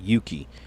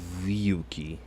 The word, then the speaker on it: Ryuki: amongst fans that Okay, so you pronounce it Yuki. You ain't pronouncing it Ryuki. So you just say Yuki. So you would drop the R, right? You would drop the R and just say Yuki. You wouldn't say Ryuki.